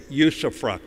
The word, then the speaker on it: usufruct: of our Marine Corps hold the Corps in usufruct. And I'm always careful never to drink before I say that word. It's spelled U-S-U-F-R-U-C-T.